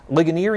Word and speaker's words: Ligonier: You're from West Noble High School, Ligonier, Indiana. Am I pronouncing that correctly? Yeah, Ligonier.